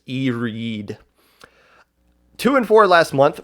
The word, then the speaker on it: Iride: this month much better i ride which is not actually pronounced i ride even though it looks like iride i believe it's e-reed two and four last